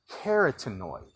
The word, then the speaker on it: carotenoid: Carotenoid.